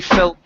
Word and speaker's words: felt: Right here, you left off the T sound. So instead of Jamie fell alone, it's Jamie felt alone. Jamie felt alone. Felt. Pronounce that T. If not, you're saying fell.